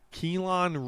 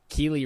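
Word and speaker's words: Kelee: Buccaneers another defensive back kelon Ringo Keely Ringo TV there's no o-n in there it's clearly Ringo which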